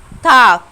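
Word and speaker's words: Tag: تاك، خدوا بالكم ان حرف الجي اللي بيجي في الاخر بيتنطق زي الكي بالظبط.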